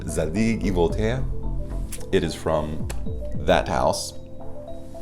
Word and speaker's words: Zadig & Voltaire: to struggle saying correctly i'm going to choose the actual french pronunciation zadie voltea it is from that